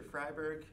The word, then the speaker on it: Freiberg: mr freebird hello everyone my name is mr freiberg pronounced like fries and burgers i'm new to cl